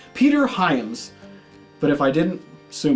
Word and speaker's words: Peter Hyams: was actually directed by Peter HAMP Peter Hyams I gotta get that name right cuz I actually did I already did I just I just dropped a the Outland review I think I said it right Peter Hyams but if